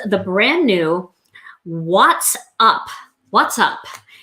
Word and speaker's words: What's Up: What's Up? So watts, like light bulb watts. Let me see, is it on here? Yeah, you can see how it's spelled, like watts.